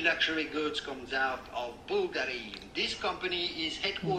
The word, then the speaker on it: Bulgari: Many luxury goods comes out of Bulgari. This company is headquartered... Bulgari!